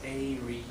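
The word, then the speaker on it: aerie: So the first word that I want to do is called airy, and it's pronounced airy, and it's a noun,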